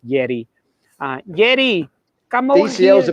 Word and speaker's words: Yerry: He calls him Jerry. Jerry Mina? That's his cousin. He's out, but Yeah, Yerry right. Mina might be in. Of course, in South America, anyone named Jerry, it's pronounced Yeri.